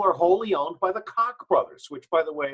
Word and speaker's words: Koch: These people are wholly owned by the Koch brothers, which, by the way, is the correct pronunciation.